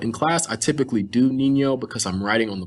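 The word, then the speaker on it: niño: boy in spanish is nino there is a nye over this o i'm sorry how do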